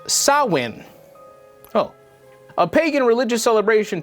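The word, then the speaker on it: Samhain: Celtic Festival of Sam Hayne a gelic word pronounced sawin oh a pagan religious celebration to welcome the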